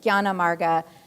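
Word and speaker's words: jnanamarga: it's just a convention a character that's pronounced gya is transliterated into english as a jn but gyanamarga the path of knowledge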